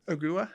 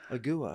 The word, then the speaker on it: Ogua: How do you pronounce it again? Ogua. Ogua.